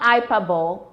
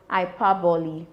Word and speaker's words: hyperbole: Ipi. You heard me. Not IPA. It's pronounced Ipi.